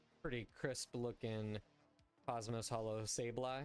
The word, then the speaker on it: Sableye: crisp looking cosmos hollow sableye i wonder if anybody pronounces that wrong just like sabli i love me some